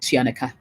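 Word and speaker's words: Tuaneka: to africa though for me is something called tianaka it's spelt t-u-a-n-e-k-a t-u-a-n-e-k-a um it's an invoicing platform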